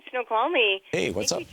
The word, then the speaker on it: Snoqualmie: Yes, that's right, Snoqualmie.